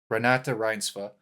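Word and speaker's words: Renate Reinsve: Renata Rinsva.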